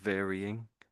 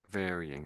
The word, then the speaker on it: varying: So when I get to the Y, I'm sort of say I'm making like an E sound. So I'm saying vinging varying. Can you try make these like an e sound there?